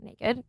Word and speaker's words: NA-KD: It's NA-KD, so naked.